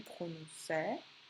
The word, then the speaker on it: prononçais: Je dois entendre prononcer. Pour cela, je vais devoir changer mon C. ce ne va pas rester normal, je vais devoir lui ajouter une cédille.